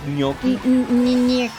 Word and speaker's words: gnocchi: Thoughts on gnocchi?